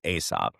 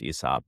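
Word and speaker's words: Aesop: think, but as the son of two architects, Asop, and I even know I say that knowing that their name is actually is pronounced Esop, but a company that designs each store architects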